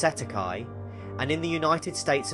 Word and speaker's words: cestui que: In New Zealand and Australia, this is commonly referred to as cest tuiquy trust pronounced setti.